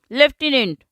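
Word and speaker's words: lieutenant: लेफ्टिनेंट, लिeutenant भी बोलते हैं इसको, और स्पेलिंग है लिeutenant, लेफ्टिनेंट ऐसे भी प्रोनाउंस करते हैं। लिखते कैसे हैं? LT। हम बोलते हैं लेफ्टिनेंट, देखो, और स्पेलिंग क्या है? लिeutenant।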